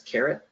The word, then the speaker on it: CRT: We use CRT. I'll pronounce that as caret.